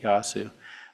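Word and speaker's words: Yaesu: is a Yu yasu it's actually how they pronounce it yasu um 5 watt Shack in a box so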